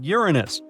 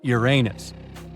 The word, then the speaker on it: Uranus: all this time actually astronomers say we should be pronouncing it like Uranus not Uranus I can't say a